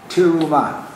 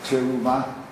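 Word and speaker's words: תרומה: It is Teruma. Teruma. Teruma. Yeah. Teruma. That is on the top. Teruma. It's not Teruma. When you have a dagesh on the top at the beginning of the word, isn't it make the shva under the top?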